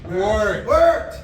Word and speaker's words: wort: Wort. So it's pronounced W-O-R-T, or it's pronounced W-E-R-T, it's spelled W-O-R-T, I don't really know why, but we call that sugary water wort.